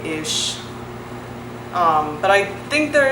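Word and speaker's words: ich: pronounce it like that but you would use it in words like ish but there are some regions that will pronounce it I or ick so you might meet different speakers that pronounce that word differently but the sound as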